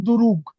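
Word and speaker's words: друг: উ আর লাস্টেরটা হল জ্ঞা তাইলে কি হলো দুরুক দুরুক দুরুক হ্যাঁ দুরুকু দুরুক হ্যাঁ এটার উচ্চারণ লাস্টে জ্ঞটা হবে কের মত দুরুক দুরুক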